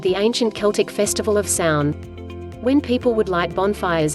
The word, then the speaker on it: Samhain: Halloween's origins date back to the ancient Celtic festival of Samhain, pronounced Samhain. Samhain, pronounced Samhain.